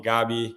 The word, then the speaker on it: Gabi: to start it off how do you pronounce your name in Portuguese we've got a bit of a history in This Club of mispronouncing people's names horribly yeah uh Gabrielle is my first name uh and then my last name is but you can just call me gabby if it's easier for you guys or